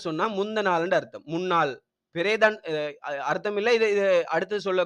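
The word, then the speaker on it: පෙරේදා: பெரேதான் அர்த்தம் இல்ல. இது அடுத்து சொல்ல கேட்டுக்கொள்ளுங்களா? பெரேதா. பெரேதான்னு சொன்னா முந்த நாள்.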